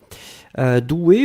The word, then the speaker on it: douée: être au féminin ici, donc on le prononce comme le masculin, c'est-à-dire le masculin c'est D-O-U, E accent aigu. Là, on rajoute juste le E, mais la prononciation reste la même.